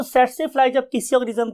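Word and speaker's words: tsetse: हम बोलते कैसे हैं इसे हम बोलते हैं स्टूडेंट्स सेट से फ्लाई सेट से फ्लाई बिकॉज के टी is silent over here हम टी नहीं बोलते तो वर्ड इज सेट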